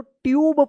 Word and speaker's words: tube: TUBE, देखिए यहां पे रूल से कि जब लास्ट में ई रहता है और ई से पहले अगर यू आता है तो यू का उ या यू उच्चारण होता है तो क्या पढ़ेंगे? इसको ट्यूब पढ़ेंगे।